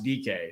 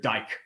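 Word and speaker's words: Dike: I mean, like the first pick, and I love how Ian Rappaport how to pronounce DK. So you couldn't say Chimere Dyke or Dick. DK.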